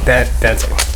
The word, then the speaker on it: Dantae: That's how I pronounce it, right? Dantae, but it's cool. Dantae. Oh, Dantae.